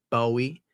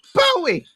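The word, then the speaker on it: BOØWY: If I ever talked to you about a Japanese band called Bowie but it's spelled b o o w e y I believe.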